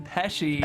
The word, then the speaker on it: Pesce: In my honored tradition of mispronouncing my guests' names, I did say Pesce at the top of the show. It's actually Gene Pesce.